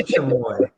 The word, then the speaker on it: chamoy: Yeah, I think it was chamoy. CHOMOY. It's Yeah. now going to be Chupacabra. Chamoy, CHAMOY. Chamoy. I think I'm pronouncing that correctly.